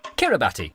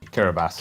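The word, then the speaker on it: Kiribati: not to be Monday kurabati kurabas really yep for many dec because of like old letters and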